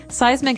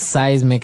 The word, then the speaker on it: seismic: And so seismic activity refers to earthquakes and volcanoes, things that are changing under the ground that will affect us. Okay? So that's seismic activity.